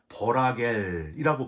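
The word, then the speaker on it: רגל: 걸어서는 표현이 있는데 여기 걸어서는 히브리어가 라겔이라고 발음을 해요이 라은 물이 닿지 않게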